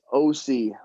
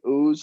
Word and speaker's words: Ouse: yeah, it's OC, like Orange County. OC. It looks like ooze. I think I've had 2 people in 31 years get it correct.